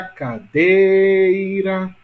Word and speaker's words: cadeira: Veja, pessoal, que em cadeira, a sílaba tônica de cadeira é dei. Olha a cadeira.